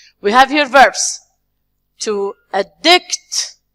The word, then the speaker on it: addict: To addict. So we are going to stress the second one.